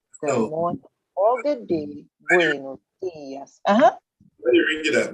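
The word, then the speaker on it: buenos días: So because there's an accent over the I, the pronunciation is buenos dias. Not buenos dias, not buenos dias.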